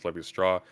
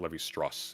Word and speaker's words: Lévi-Strauss: LMAO at President Sunday pronouncing Claude Lévi-Straux's name as Lévi-Strauss. You moron, not all ending syllables are silent in French. That one is, though. It's not Lévi-Strauss. It's Lévi-Strauss.